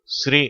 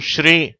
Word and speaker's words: ஸ்ரீ: அதெல்லாம் நம்ம பார்த்தோம் ஆனால் இந்த ஸ்ரீ என்ற எழுத்து ஒரே ஒரு எழுத்துதான் இது ஆங்கிலத்தில் எஸ் ஆர் ஐ என்ற எழுத்துக்களால் குறிப்பிடப்படுகிறது அப்போது ஸ்ரீ என்று உச்சரிக்கப்படுகிறது இதற்கு என்ன அர்த்தம்னா மதிப்பு மிகுந்த என்று அர்த்தம் சில சந்தர்ப்பங்கள்ல இதே எழுத்தை ஆங்கிலத்தில் எஸ் ஹெச் ஆர் இன் என்று குறிப்பிடுகிறார்கள் உச்சரிப்பும் ஸ்ரீ அப்படின்னு அதை உச்சரிக்கிறாங்க ரெண்டுத்துக்கும் என்ன வித்தியாசம் ஏற்கனவே